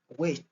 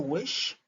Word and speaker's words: which: Which et non wish, c'est rich, rich, rich.